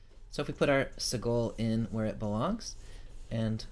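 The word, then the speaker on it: segol: underneath is the sigil the sound of the sea goal is short e like met a so if we put our Segel in where it belongs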